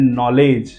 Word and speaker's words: kneel: Then knowledge, not कनोलेज, knowledge. जिसको पढ़ना नहीं आएगा वो को भी प्रोनाउंसिएशन करेगा, वो कनोलेज बोलेगा, लेकिन ये वर्ड है नॉलेज।